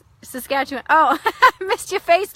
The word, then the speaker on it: Saskatchewan: Hi Flora, it's pronounced Regina, Saskatchewan, pronounced Saskatchewan.